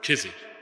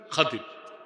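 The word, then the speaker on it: خضر: খাদির বিফাতহিল খা ওয়া কাসরিদ দাদ, খাদির। আমরা বলি খিজির, এটা ভুল উচ্চারণ, শুদ্ধ উচ্চারণ কি? খাদির।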